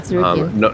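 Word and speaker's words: Tsarukyan: That's how you pronounce it, Sarukian, right? Yeah, Sarukian.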